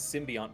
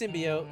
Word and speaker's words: symbiote: in they pronounce symbiote as symbiont, but they use it's like a different word. It's like I don't understand the difference between the two, but they're like used distinctly of one another. It's symbiote in this house.